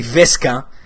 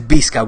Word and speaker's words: Visca: Visca pronounced with a B, not with a V. That's a little attention for especially quote-unquote Barça influencers on YouTube that still say Visca el Barça, that have nearly 500,000 Barça supporters and cannot pronounce Visca correctly. It's Visca with a B, okay?